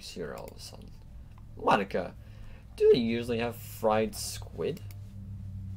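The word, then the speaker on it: Monika: people because it's writing your name monic Mon Iike and that's not how you say my name at all it's it's Monica also that joke makes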